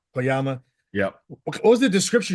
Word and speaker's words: Koyama: you as sergeant Tyson uh how do you pronounce the last name cooma kyama kyama yeah what was the description you were given